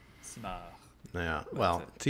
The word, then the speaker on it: Simard: Well, that's what it looks I'll say the Glenn Simard, not Simard. You don't pronounce the D. Simard.